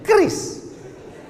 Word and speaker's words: QRIS: Cara bacanya gimana sebetulnya? QRIS.